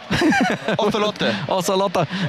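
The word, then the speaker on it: Ocelote: we're technically correct we're technically correct oselot aot oselot is his proper pronunciation there with his scarf on as always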